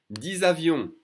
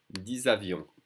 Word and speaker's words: avions: 10 avions, usually the X is silent, but it's followed by a vowel, so we're connecting the two sounds. 10 avions with a Z sound.